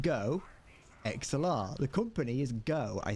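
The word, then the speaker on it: GoXLR: what go hold on why do I pronounce go XLR weird Cox LR what what it's not pronounced LR it's pronounced go XLR the company is go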